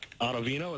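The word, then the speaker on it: Ottavino: Chapman Banas chat Chapman Banas Brighton um and ovino is how you pronounce it yeah ovino yep ovino I mean on paper it looks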